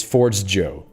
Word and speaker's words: Forgejo: J Joe what no this says they say they pronounced it Forge Joe inspired by foro the espiranto word for Forge okay now we have our answers it's it's Forge Joe but I'm still going